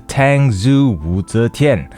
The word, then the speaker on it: Tangzu Wu Zetian: Hello and thank you for clicking on this video where I'll be sharing my honest experience of the Tangzu Wu Zetian. And yes, that is how it's pronounced.